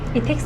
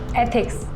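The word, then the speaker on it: ethics: इथिक्स नहीं, एथिक्स, ऐसे pronounce करो।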